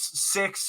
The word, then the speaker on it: Syxx: It's important to point out, Tyler, Six in the name Six and Six-Pac is spelled SYXX. SY.